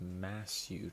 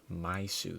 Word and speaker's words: Masyu: to be trying Shai's massu today um it's my first time saying that correctly I looked up how to pronounce it I've been saying it uh myu this whole time which is incredibly wrong but okay here are